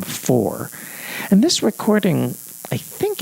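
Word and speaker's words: Faure: Now you spell her last name like the composer for f a u r e. But since there is no accent on the final e as there is in for you pronounce her last name for.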